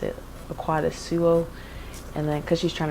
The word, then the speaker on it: Akuadasuo: say every letter and she'll like pronounce it Akuadasuo. And then because she's trying to replicate my dad who pronounces it Akuadasuo, which is how you're supposed to say it,